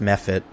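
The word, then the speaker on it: mephit: you turn around and you see an ice me fit waving at you do you all see that and it's pronounced meh fit is it method okay we've historically mispronounced it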